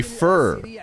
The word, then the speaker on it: Feer: You literally have a silent e. No, it would be fur.